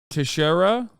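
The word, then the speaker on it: Teixeira: Jack tejeria all right am I saying that right is it Jack tahiria Junior member of the US wait hold on he'll say it right in a second Tashara Tashara Jack Tashara uh is appearing in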